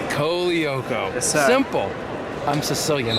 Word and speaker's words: Colaiocco: Tell me the real pronunciation. Colaiocco. Colaiocco.